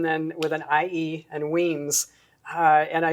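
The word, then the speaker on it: Wemyss: it uh so it's weems it's and then with an ie and weems and i spell it phonetically everywhere but it's pronounced w-e-e-m-z it is spelled like wemmis it's w-e-m-y-s-s and i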